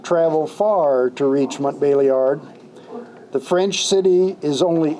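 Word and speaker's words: Montbéliard: The Mennonite congregation of Montbeliard, which in French is pronounced Montbeliard, had its beginnings shortly after the Almond Schism.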